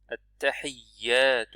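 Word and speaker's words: التحيات: At-tahiyyatu. Vous voyez qu'il y a shadda là, c'est-à-dire on fait un petit appui, pas trop.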